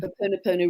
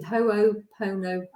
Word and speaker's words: Ho'oponopono: And Ho'oponopono really miraculously, it was really quite funny what happened.